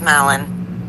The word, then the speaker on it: Mellon: Am I pronouncing that correctly? Mellon. Is that a history? You're a teacher. Yes, it's Mellon.